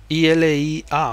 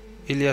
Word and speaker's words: Ilia: I-L-I-A, o sea, Ilia pronunciado sin H y con I latina en lugar de Y.